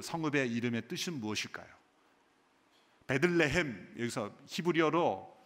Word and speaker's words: 베들레헴: 베들레헴, 여기서 히브리어로 두 단어가 합성된 것입니다.